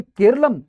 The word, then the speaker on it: केरलम: जैसे वृक्ष को वृक्ष हम कहते हैं और केरला एक कहा जाए कि अंग्रेजी और विदेशी उच्चारण है केरला। जबकि केरलम यहां की मूलभूत अवधारणा है।